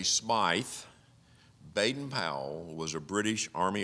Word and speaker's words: Smyth: Robert Stevenson, and if you pronounce it the English way, Smythe, Baden-Powell was a British